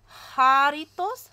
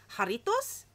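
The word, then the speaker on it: Jarritos: I know it's not jar because it's a J and it's Spanish, so it'd be ha. Jaritos?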